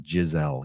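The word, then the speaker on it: Gisele: name right gazelle I'm dlex ion ber he pronounced that properly enough times yes Johnny Scot Scotch SC jizelle yes there we go jiz there you go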